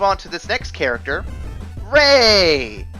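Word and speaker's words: Rey: to this next character Ray I think that's how you pronounce it r e y I'm gonna go Ray anyone want to argue on that one r e a r e y r e y i I think it's Ray yeah Ray makes sense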